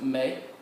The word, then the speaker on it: me: say me in Spanish notice it looks exactly alike but it's pronounced may just like we use in May or okay me means